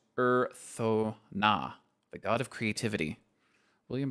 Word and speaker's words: Urthona: Pronounced Urthona, the god of creativity.